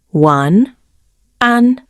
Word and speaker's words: 晚安: Pronounced one, an.